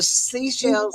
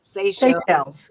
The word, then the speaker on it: Seychelles: from the Philippines that the minerals under the Seychelles, I'm saying it wrong, Seychelles Islands are incredible, enough for the entire world.